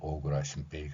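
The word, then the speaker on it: 小倉進平: 동영상이나 강의에서 자주 말씀드리는 일본인들의 발음으로는 오그라 신페이 되겠습니다이 오그라 심페이 사람을 우리가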